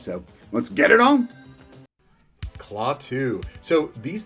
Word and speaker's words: Klaatu: Klaatu.